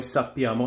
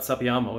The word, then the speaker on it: sappiamo: Noi sappiamo has the double P. So it's not sappiamo, it's sappiamo.